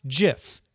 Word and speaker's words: GIF: in 2013 he told the new york times the oxford english dictionary accepts both pronunciations they are wrong it is a soft g pronounced jiff end of story end